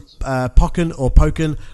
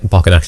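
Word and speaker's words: Pokkén: A Pokken, I think it could supposed to be like Tekken to Pokken. Yeah, I guess. But the reason I thought it was Pokken because of Pokemon.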